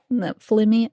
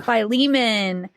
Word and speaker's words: Philemon: And then also there was a letter to Flaming. Nope. Flaming. Just say it. Philemon.